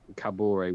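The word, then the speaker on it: Kaboré: spell it but hey it's cabori with an accent on the E I don't have an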